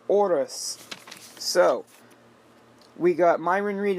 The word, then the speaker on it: Horus: with them pronouncing it Horus. The man's name is Oris.